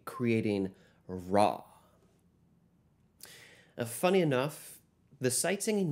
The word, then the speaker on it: ra: Our only exception is the syllable re, which when lowered changes the ending vowel to the letter A, creating ra.